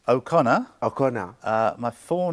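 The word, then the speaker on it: O'Connor: How do you pronounce the name? Okay. Um, it's Okconor.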